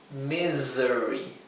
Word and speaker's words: misery: i y la e esa s se pronuncia siempre como un zumbido como una abeja Z bien misery Así que recuerden si